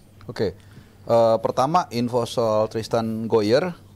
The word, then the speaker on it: Gooijer: Pertama info soal Tristan Goyer, benar ya gue bacanya? Goyer. Tadi itu. Hoyer. Hoyer. Ada kumurnya dikit gitu.